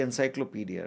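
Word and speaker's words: Encyclopédie: Uh she wanted to book was the encyclopedia right? Yes. Encyclopedi was the French pronunciation.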